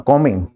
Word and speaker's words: comb: रहा था, बाल्ड, हाँ, कॉमिंग, COMB, पर इसका उच्चारण है कॉम, बी साइलेंट है इसमें, कॉमिंग, ठीक है, कॉमिंग